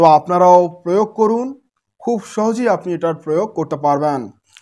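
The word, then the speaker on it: স্বাহা: ওম নমঃ ভিখা ভো মহা সহা। এখানে আপনারা সাহা উচ্চারণ আসে কিন্তু উচ্চারণটা হবে সোহা।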